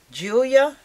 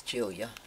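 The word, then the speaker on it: Giulia: And her name is Julia, but it's spelled with a G-U. I don't get that. A G-I-U. I think it's Julia.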